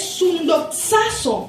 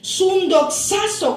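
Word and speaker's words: συνδοξάζω: La palabra glorificados, hermanos, de este pasaje es sundoxazo, así se escribe, sundoxazo con X, A y al final Z, sundoxazo, que significa exaltar a dignidad en compañía con.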